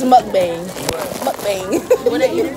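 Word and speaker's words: 먹방: It's mukbang.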